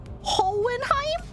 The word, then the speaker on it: Hohenheim: me so I don't so I don't pronounce the second H so it's h hoenheim but there's an H